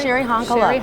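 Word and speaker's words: Cheri Honkala: Her your vice presidential running mate, that is it Sherry Honkala? Sherry Honkala. That's right. I wanted to pronounce that right.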